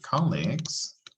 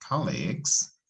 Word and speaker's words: colleagues: Podemos decir colleagues, con acento en co, colleagues, pero también se puede decir coworkers, coworkers, ¿ok?